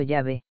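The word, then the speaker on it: Yahweh: elohím se combina con un segundo nombre divino pronunciado llave transcrito habitualmente como jehová y traducido como señor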